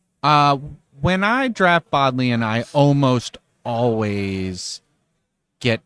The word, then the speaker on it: Bodleian: Well, we're drafting the Bodlian Nen Cube. It's pronounced Bodley.